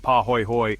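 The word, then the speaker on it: pāhoehoe: Paho ho ho pronounced paho hoy hoy is smooth.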